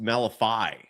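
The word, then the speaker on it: Malevy: By the way, his name is his first name is pronounced Malifi. I did not know that. Malifi the two-way player.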